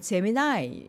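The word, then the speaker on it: Gemini: 대표와 함께 소개해 드렸던 잼민이라고 소개해 드렸는데 그게 영어식 발음으로는 제미나이 이더라고요 제미나이 재미나죠 이름이 제미나이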